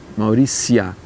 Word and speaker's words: Mauritia: Mas aí que está, a pronúncia em latim do TI, ela, TI seguido de uma vogal, ela vira si, Mauricia.